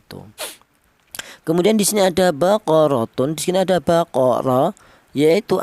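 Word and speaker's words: بَقَرَةٌ: Seperti contoh cara bacanya baqaratun. Jangan tanwin ini dibaca jelas atau idhar, baqaratun so, jangan, nggak boleh.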